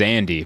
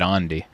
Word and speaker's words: Andy: His name's Andy, but they pronounce it Andi.